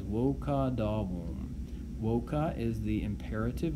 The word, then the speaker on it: voca: is what he says, voca davum. Voca is the imperative verb form. Notice it ends with a vowel, a long A in this case, and then he uses